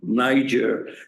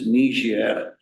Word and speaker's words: Niger: she corrected me uh I used to pronounce the name of a country totally wrong Niger and then she said D it's niia so you know so